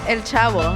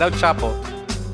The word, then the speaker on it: El Chavo: The last one is el chavo. How do you say el chavo? El Chavo. Not El Chapo.